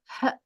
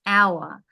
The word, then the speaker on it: hour: AEI o you um it's a silent h cuz hour there's no it's not her hour it's hour so because it's a